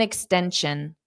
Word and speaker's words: extension: extension n extension an extension extension so it's D extension the syllable stress is in the middle extension did you request an